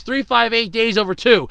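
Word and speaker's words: 358/2 Days: Kingdom Hearts Chain of Memories, Kingdom Hearts 2, Kingdom Hearts 358 Days Over 2.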